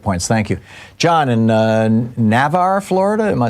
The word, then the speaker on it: Navarre: John in Navarre, Florida. Am I saying it right, John? Yeah, Navarre, Florida.